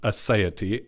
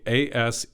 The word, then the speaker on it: aseity: I'm not a deep academic theologian on these things, but it's the word, I believe it's pronounced aseity, A-S-E-I-T-Y, aseity.